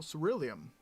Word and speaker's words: ceruleum: I smell ceruleum. Ceruleum? Yeah, that's it. And that's how you pronounce it.